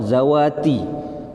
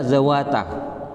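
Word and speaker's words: ذواتِ: Ini bentuknya muannas salim, dalam mansub dibaca kasroh, zawati. Saya membacanya zawata. Ya sebenarnya maunya buat zawati, cuman lisan ini Pak, kadang salah ngocak dia Pak.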